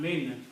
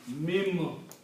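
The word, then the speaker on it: من: So this will be pronounced as not min, mim.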